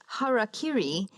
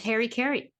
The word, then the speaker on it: harakiri: and who will commit harakiri if they fail I always thought it was Harry Carey but I looked it up it is not it's a mispronunciation basically